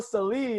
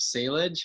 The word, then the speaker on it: Salih: I've just grown up with years of Salage. Hi, is Mr. Salage. I was always the giveaway on the phone. When you have a hard last name to pronounce, if somebody asks for Mr. Salage, you know that they really don't know what they're talking about.